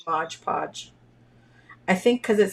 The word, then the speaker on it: Mod Podge: you could use like Modge Podge the same way is that how you say it Modge Podge or is that Mod Podge I don't know I say Mod Podge because that's how it's written but I know a